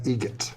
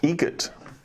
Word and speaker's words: Eget: Eget, Eget.